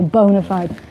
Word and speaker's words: bona fide: bogus it was not Bonafide what we call bona fide the actual pronunciation Bonafide because it's Latin but proud pad called it Bonafide said Bonafide so we say bona fide no ladies but